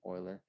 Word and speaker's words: Euler: That's how you say his name, Euler, Leonhard Euler.